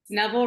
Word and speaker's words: Neville: Megan, I've been meaning to ask you, is it Neville? Neville rhymes with devil, yes.